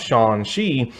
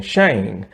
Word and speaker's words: Shang-Chi: They even went as far as to pronounce Shang-Chi the correct pronunciation because most people kept saying Shang, and that is wrong.